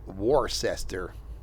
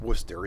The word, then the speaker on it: Worcester: Frammingham, uh Ashland, South Burrow, Westboro, uh Grafton, Warcester, because that's probably how you pronounce it. It's Worcester, isn't it?